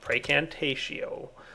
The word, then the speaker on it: Precantatio: Everybody's yelling at me for saying it wrong. Precantatio.